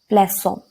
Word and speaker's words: plaçons: pronounced as S, but when the letter C is followed by O, it is pronounced as K. So, in order to preserve the sound, we use cedilla. For example, plaçons.